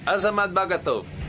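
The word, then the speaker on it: Azamat Bagatov: This is Azamad Bagato. He is my producer. Hey, how are you? How do you say his name? Yeah. Azamad Batov.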